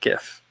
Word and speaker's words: GIF: Ben Browning says GIF or GIF pronunciation. I go with GIF. I know the person who invented the file says it's GIF, but I feel like it's like a literary work.